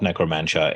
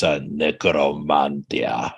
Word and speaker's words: Necromantia: It's not necromantia. It's necromantia. That's how every single Greek person I've ever spoken to pronounces it.